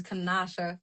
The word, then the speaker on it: Kenosha: Yeah, uh so the pronunciation I got to hit you with is Kenosha.